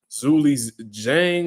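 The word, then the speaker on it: Zhilei Zhang: wolf fight um and apparently I've been saying this name wrong this whole time his name is like Zuli Jang or some like that but I'm G call him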